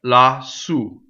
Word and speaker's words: lassù: Next, lassù. So here's an example of words that usually double another word. When you put them together as one word, you keep the doubling in it.